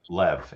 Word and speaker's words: Lev: What is your name? Lev, Lev, pronounced. Yeah, I got you, Lev. Yeah. It's not Russian, E- so nice try. Yeah, I got you, you Ivan.